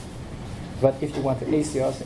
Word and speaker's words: Axios: Axios. Axios. It's spelled?